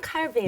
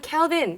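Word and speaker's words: Calvin: 알고 있어야 돼요 우리가 독일어로는 칼빈입니다. 독일어는 칼빈. 영어로는 캘빈입니다. 영어로는 캘빈. 예. 불어로는 깔뱅입니다. 깔뱅.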